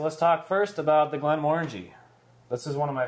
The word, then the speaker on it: Glenmorangie: my favorite sweeter whiskies it's easy to remember to how to pronounce the name because it says orange sort of in the name it actually says orangey didn't the guy say